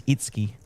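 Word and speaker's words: Itsuki: he goes um I I just asked him how to pronounce his name, and it is Itski. So, Itski it is.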